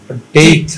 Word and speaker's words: debt: এই দেখতে পাচ্ছি, মানে আমি বলতেছি শেষেরটা যেখানে ডেট লেখা আছে, ডেট হবে না, DEBT, হ্যাঁ বিটা তো সাইলেন্ট টিটাকে আমার টিটাকে আমার ফি বলি তো, জি?